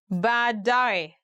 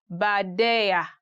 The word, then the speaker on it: baadaye: Today we are going to look at 10 hardest words to pronounce in Swahili. Baadaye, later.